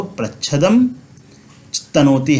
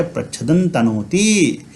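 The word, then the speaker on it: प्रच्छदं तनोति: तो प्रच्छदम तनोति हम नहीं पढ़ेंगे, इस अनुस्वार का उच्चारण नकार के जैसा हो जाएगा, तो हम पढ़ेंगे प्रच्छदन तनोति, प्रच्छदन तनोति, ठीक है।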